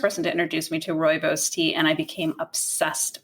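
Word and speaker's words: Rooibos: Roy Royos Royos. And so actually uh my pair that I mentioned earlier, she's from South Africa and she was the first person to introduce me to Royos tea and I became obsessed with it.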